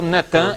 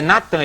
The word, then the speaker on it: Natan: No dia 4 de novembro de 2002, lança o nome do ex-primeiro-ministro de Al-Shorur de Israel, Netan, é Natan, eles já fizeram o sincretismo, botaram Netan, mas é Natan e Arro.